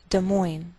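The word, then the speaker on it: Des Moines: Indiana De Moine Iowa note that we treat the name of this Capital like one word and the greater stress is on the second part so we say de Mo de Mo Iowa and I believe we do this because we took the name from another language Topeka Kansas Frankfurt Kentucky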